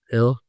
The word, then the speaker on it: Gil: Hey, Luis Hill, even though it's spelled like Gil.